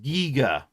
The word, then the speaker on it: Giger: Uh, the Giger is definitely pronounced Giger, right?